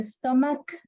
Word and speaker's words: stomach: like like okay so the pronunciation of a stomach is like a k not a CH another another pronunciation will